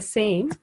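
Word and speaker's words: س: Can you say Ra.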